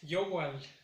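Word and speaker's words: yohual: Para en el caso de la noche es yowal. Yowal. Igual va a ser en la primera sílaba.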